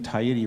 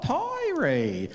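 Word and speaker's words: Taieri: I had another one where we lived in Tiriti Road, T-A-I-E-R-I. And the woman asked me to spell it. And she went, oh, Tyrie. And she said, oh, but you're saying it correctly.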